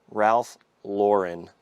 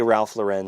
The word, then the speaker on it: Ralph Lauren: Polo Ralph Lauren. I want to say Ralph Lauren so badly right now.